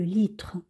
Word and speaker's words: litre: 1 kg le litre alors comme on dit ici eux on ne le prononce pas on veut pas dire l'oeil et re on dit le litre alors voilà c'est un